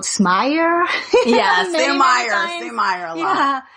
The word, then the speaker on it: Sumire: Yeah, because it's spelled Sumire, but we don't have a Japanese, in Japanese, you know, we don't have R or L. So it's almost like D. So, but L sound, Sumire.